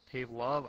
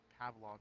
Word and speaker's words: Pavlov: Pavlo? I don't know how to pronounce that. I could buy it right now, actually. I think it's a I'm pretty good job. Apparently spelling it wrong. Pavlov? Pavlov, yes.